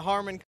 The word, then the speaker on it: Harman: As you can hear behind me, we've actually got the Harman system that started back in August of 2010.